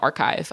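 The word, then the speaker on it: Arkive: you can help to curate a museum like archive I'll dive into that example so archive it's spelled a r k i v e I've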